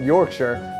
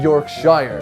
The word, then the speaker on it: Yorkshire: The next day, I tried a Yorkshire pudding for the first time, and I found out it's pronounced Yorkshire, not Yorkshire.